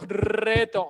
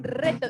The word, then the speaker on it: reto: Un reto. Wait, do you think our audience remembers what this word means? Let's see. Reto? Roll your R's. Reto. Reto.